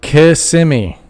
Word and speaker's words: Kissimmee: say it brandon but can you tell me how to say the k word kissimmee you said it right kissimmee kissimmee no kissimmee kissimmee kissimmee okay don't say it in kissimmee okay yes i'm butchering that when you look at the